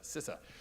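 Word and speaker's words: CISA: and infrastructure security agency properly pronounced sisse I believe not CSIS sisse in that capacity he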